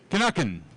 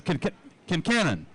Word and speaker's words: Kincannon: Mark Crutcher and Kinnuckin. One more time. It's Kincannon, just like it sounds, and just like it's spelled.